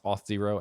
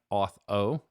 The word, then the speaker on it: auth0: common it is for people to pronounce auth0 as auth o so it is auth 0. uh people say autho all the time um and yeah i